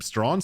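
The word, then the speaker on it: Strachan: Lord Thunder Knight strong his last name is spelled s a c h an and uh production taught me he pronounce his last name stra so TK stra Lord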